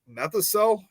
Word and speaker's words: Methocel: A lot of the Blob slime juice was made out of I don't know how you say it, methocel. It's METHOCEL.